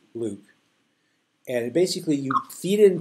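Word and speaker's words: LIWC: different analytical systems now linguistic inquiry and word count pronounced Luke and basically you feed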